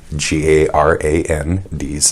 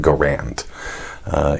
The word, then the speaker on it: Garand: G heart is Ingo first a short as in harry second a somewhat more obscure as in errand accent on the first syllable or according to the